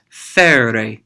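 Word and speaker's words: φέρει: And then finally, fere. Fere. He, she, or it carries. It almost sounds like the word ferry, like a boat that brings something across a river, for example.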